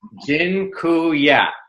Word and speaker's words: dziękuję: It's dziękuję. That I'm not going to spell it for you.